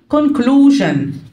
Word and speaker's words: conclusion: Preface عكسهم خاتمة conclusion. Conclusion S-I-O-N هنا تنطق جن.